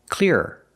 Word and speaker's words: clearer: Let's compare these 2 words, clear and clearer. Clear is 1 syllable and clearer is 2 syllables. And it doesn't matter how fast I say it, it's still 2 syllables.